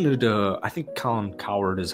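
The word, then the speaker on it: Cowherd: I was listening to the I think Colin coward is how you say his name I was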